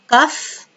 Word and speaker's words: cough: Cough والجي اتش هنا برونونسد اف اللي هي الكحة.